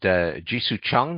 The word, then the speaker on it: Jisoo Chung: and I believe that the artist is pronounced Jisoo Chung. Is that correct? Yeah, correct. Jisoo Chung.